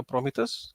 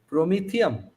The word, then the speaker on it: Prometheum: मैं तो नाम भी नहीं प्रोनाउंस कर सकता, प्रोमिथस, क्या नाम बताया आपने? प्रोमीथियम।